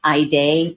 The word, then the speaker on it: Haydeé: an important topic the name your name particularly pronouncing someone's name properly and take it from me I day spelled h a yde e is